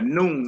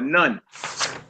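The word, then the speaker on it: נ: a now and it's called a noon or nun not like no Catholic priest priest this you know what I'm saying but a nun or a noon and that appears different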